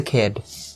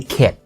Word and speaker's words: kid: when I was a kid, right? Okay, and make sure that the D sound here has to be pronounced, guys. Because if you don't, then it will be kid, like first aid kit.